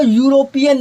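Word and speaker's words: European: ठीक है, तो प्रोनाउंसिएशन करके देख लो, यूरोपियन या आ रहा है, तो यहाँ पे क्या आएगा, ए नहीं एन नहीं आएगा, ए आएगा।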